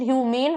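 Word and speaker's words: human: ई वाले का pronunciation ह्यूमेन होता है और जिसमें ही नहीं है उसका प्रोनाउंसिएशन ह्यूमन होता है.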